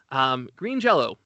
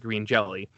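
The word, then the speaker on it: Green Jellÿ: any language, and so that's pronounced like an O according to them.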